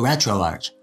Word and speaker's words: RetroArch: it either way but the actual developers who created it and work on it call it retro Arch so that's good enough